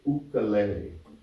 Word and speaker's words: ukulele: let me tell you if you were in Hawaii you would say ukulele because it's a Hawaiian word and who can tell